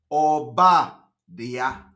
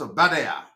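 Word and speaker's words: Obadiah: from the book of OBA DIA that is the name for those who are pronouncing this no he's not a bad air it is called obadia am I communicating from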